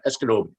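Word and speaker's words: Esgenoôpetitj: tackle the word that you're you're trying to pronounce my community it's uh eskenobic and that's that's a lot of people know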